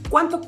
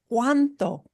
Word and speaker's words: cuánto: ¿Cuánto cuesta? Here's one of our question words we're going to focus on today. ¿Cuánto? ¿Cuánto? How much? And notice how we pronounce this. Every letter in cuánto is pronounced.